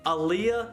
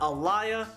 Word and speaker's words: Aaliyah: are the correct ones aaliyah not elia and i meant to